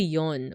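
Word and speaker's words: 四: is always pronounced as KNE three is always pronounced as son uh oh and four is typically yon or a variant such as yo so fourth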